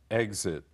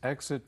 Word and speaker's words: exit: Exit. 离开。 After the movie, please exit from the rear of the hall. 在电影播毕之后，请由影厅的后方门离开。 Here I should remind everyone that exit or exit, the two pronunciations, both are correct.